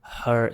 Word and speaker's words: her: repete aí comigo esse ela aqui é esse som na garganta mesmo meio fechado não existe muito isso no português né mas você fala na garganta sabe quando tem algum tipo um milho de pipoca Você Faz É isso aí ó her só que daí coloca o som do junto her her you should